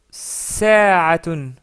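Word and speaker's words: ساعة: Donc c'est le mot sa'atun, sa'atun ou sa'a qui veut dire l'heure, l'heure ou une heure. Ce mot-là contient la lettre Ain et non pas la lettre Rain.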